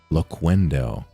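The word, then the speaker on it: Loquendo: Not how it's pronounced. Laquendo City is an imaginary town used as a community or a running joke among Spanish-speaking users of the voice synthesis technology. Laquendo hard K.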